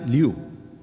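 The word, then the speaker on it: 六: explica lo que dice es el número 6 y se pronuncia liu la disposición de los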